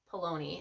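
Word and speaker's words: Paolini: are by Christopher pone P palon I think is how it's pronounced I actually read these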